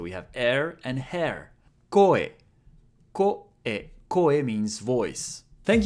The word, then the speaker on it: こ: Ko. Ko is pronounced like ko in cohabitating.